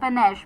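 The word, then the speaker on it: panache: होना चाम होना तो उसे हम कहते हैं पनिश पी एन ए सी एच ई पनिश जैसे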